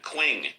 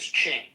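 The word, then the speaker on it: Qing: Quing. Hello, Quing. If I'm pronouncing that right. Quing. Quing. Q. Q I N G Q I N G once. Q I There he goes. It's pronounced as Ching.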